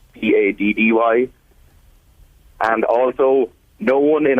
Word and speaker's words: St. Paddy: A lot of people pronounce it St. Patty's Day, like Patty, St. Paddy, Paddy.